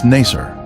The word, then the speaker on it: Nacer: the oozing gilly village its former name in the 19th century was nacer this pronunciation is similar to nicer a village that the